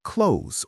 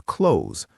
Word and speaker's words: clothes: People often say clothes, separating it too much, but in reality, it's more like clothes or clothes, almost like the word close.